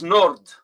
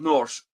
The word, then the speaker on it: nord: In Italian, it's nord. Nord. Or is it nord or is it Norte? No, note. It's Is nord. like, I know in French it's not. also nord. Nord. Yeah, it's nord. It's not north.